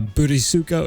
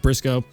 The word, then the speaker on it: burisuko: So, it's just like this channel is spelled. Uh bootysuko if you're American, but it's actually it's just pronounced Brisco.